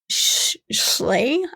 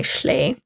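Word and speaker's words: Schley: the investigators named art schay I think is how you say it s c h l e y schay was so upset that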